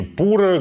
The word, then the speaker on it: Pura: меня тоже большой вопрос по-английски Это произносится Как пьюра по-русски пура где-то ещё наверняка по-другому понятно что это происходит